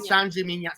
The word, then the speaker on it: San Gimignano: No, only Vernaccia is okay, because Vernaccia is only in San Gimignano.